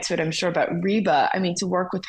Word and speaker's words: Reba: said who is it rebba rebba is that how you say it and he goes reeba so I I've been